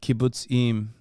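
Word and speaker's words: kibbutzim: be that guy JK I love to It's pronounced like kibuts IM kib okay I forgot to finish the [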